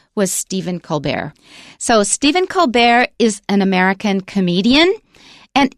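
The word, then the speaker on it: Colbert: was criticizing him said oh you just say colar to sound all French and fancy don't you and he said yes he changed the pronunciation himself because it sounded fancy or more prestigious that's right so that's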